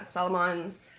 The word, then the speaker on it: Salomon: Yeah, Salomons.